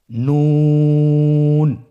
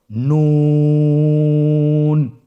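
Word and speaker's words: نون: আপনারা জিব্বার আগাটা তার বরাবর উপরে তালের সঙ্গে লাগিয়ে উচ্চারণ করুন এবং আমার সাথে বলুন নুন। আবার বলুন নুন।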